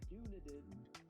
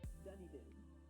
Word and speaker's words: Dunedin: place in New Zealand, which I called Dunedin, that it is actually Dunedin, which sounds much more New Zealandy when I say it like that.